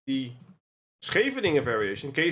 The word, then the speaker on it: Scheveningen: And if you couldn't pronounce it like correctly, it's a place in the Netherlands, by the way, Scheveningen. If you don't know how to pronounce it correctly, you would be a spy and you would be executed.